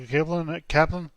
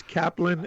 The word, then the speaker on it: Kaplen: It's Kaplan, and the name Kaplan, of the firm is the the Caro and Caro, Kaplan, the Caro and Kaplan.